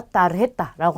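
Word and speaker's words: tarjeta: 우리 신용카드라든지 아니면 무슨 뭐 보너스 카드 뭐 이런 거 카드를 얘기할 때 전부 다 따르했다라고 합니다. 자, 그 다음에 우베라는 친구인데요. 이 친구는 아까 전에 보셨던 이 베라는 글자랑 발음이 똑같아요.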